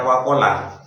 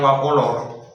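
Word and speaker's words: وَقَالَ: Artinya banyak ketika diuji itu peserta kurang hati-hati karena terlalu fokus pada bacaan imalahnya sehingga awal itu bukan baca wakola tapi bacanya wakolor karena terpengaruh oleh roh akomu karena pengen mantep wakolor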